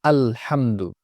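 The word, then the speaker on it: الحمد: তো অনেকে এই সাকিনটাকে ধরতে পারেন না, হামেদু হয়ে যায়। হামেদু, আল্লে হামেদু এরকম। অথচ এটা স্পষ্ট হবে আলহামদু।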